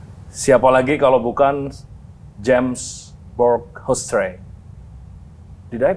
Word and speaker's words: Hoesterey: Siapa lagi kalau bukan James Borghousetre. Did I pronounce right?